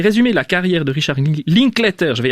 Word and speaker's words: Linklater: Alors c'est un film qui est réalisé par Richard Linklater, si je le prononce bien. Ouais, Linklater. Oui.